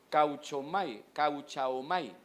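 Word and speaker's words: καυχάομαι: Fíjese que la palabra que dice, se traduce como gloriarse, es la palabra, ¿cómo se pronuncia, hermano? Cauchaomai. Así es la fonética, cauchaomai.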